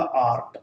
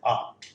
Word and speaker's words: art: है, और यह है कि जब कभी भी आर के बाद कोई भी इंग्लिश कॉन्सोनेंट होवे तो ब्रिटिश इंग्लिश में इस आर का उच्चारण नहीं होता, लेकिन अमेरिकन इंग्लिश में इसका उच्चारण होता है। हम इंडियन सामान्यतः इस आर का उच्चारण करते हैं, इसलिए मैंने इसको लिखा आर्ट। आप चाहें तो आप इस रे को ड्रॉप कर सकते हैं, आर्ट।